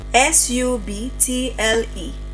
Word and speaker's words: subtle: When B comes before T, it is usually not pronounced. For example, S U B T L E.